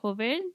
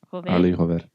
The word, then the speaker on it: Jover: Yeah, or is it Jover, or how do you say Yeah, it? Jover. Arly Jover.